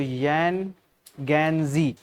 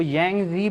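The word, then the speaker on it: Yangtze: Okay बहुत लोग इसको अलग-अलग प्रोनाउंस करते हैं। लेकिन बस एक याद रखने के लिए अगर देखा जाए तो यन गैंजी इसको प्रोनाउंस करते हैं। ओके? कहीं ना कहीं कुछ लोग इसको यंगजी भी प्रोनाउंस करते हैं।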